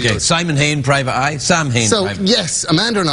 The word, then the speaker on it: Samhain: Oh, yes, it's Sam Hain today. It is. Good old Sam. Sam Hain. Yeah. It's pronounced Samhain.